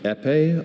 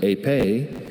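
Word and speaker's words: épée: Epe, also pronounced ape, is a noun.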